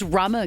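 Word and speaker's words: Rumer: Rumour. I recognise Rumour. Yeah, I I recognise think it's Rumour. pronounced Rummer, guys, Is believe it?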